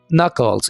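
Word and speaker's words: knuckles: जाता है क्रैकिंग दी नकल्स यहां पर के जो अल्फाबेट है इसको हम साइलेंट रखेंगे क्रैकिंग द नकल्स उंगलियां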